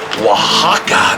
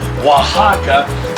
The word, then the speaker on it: Oaxaca: lot on our tacos i use the queso oaxaca that's how you pronounce it shout out to rick bayless for teaching me how to say that queso oaxaca so many good mexican